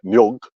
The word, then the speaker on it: nyog: But we say for coconut, nyog, with a G.